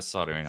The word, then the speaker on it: soldering: I do have a soldering iron, but we call it soldering. Soldering. Soldering. Yeah, there's an L in it.